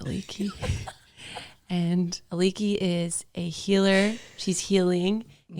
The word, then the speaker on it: Aliki: And I was asking her how to pronounce her last name, but she's like, it's just Aliki.